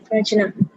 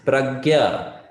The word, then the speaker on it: prajna: It's not prajna, it is pragya. Pragya. Pragya vadamsha bhashase. Okay, it is pronounced as gya, not jna. Huh? I mean, some people do pronounce as jna, and that's okay. But in general, pragya.